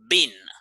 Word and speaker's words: been: between being and being the thing is a bean in the past participle is only one uh syllable bin like bin only one sound bin when you say being